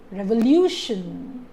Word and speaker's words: revolution: Revolution. The stress is on lu.